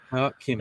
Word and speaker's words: Koch-Chemie: Koch-Chemie. Yeah, the slightest bit of pronunciation.